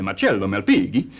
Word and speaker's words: Marcello Malpighi: And it wasn't until 1661 that this Italian gentleman, Marcello Malpighi, or if you want to be a bit more correct in the pronunciation, you have to use your hands and say Marcello Malpighi.